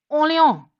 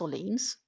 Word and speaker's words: Orléans: Um, there is a little city called Orléans. That's Orleans.